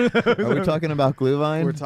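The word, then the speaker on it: Glühwein: Are we talking about glue vine?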